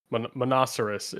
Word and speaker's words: Monoceros: So it's monoceros is the way you'd pronounce it.